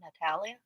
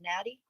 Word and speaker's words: Natty: It's not Natalia. Natalie. It's Natty.